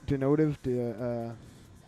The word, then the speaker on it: Denotive: No, I'm just denotive. Oops, I didn't mean to play it. Gonna get dinged. Period. Notive.